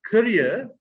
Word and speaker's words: career: One is pronounced career, and the other is pronounced carrier.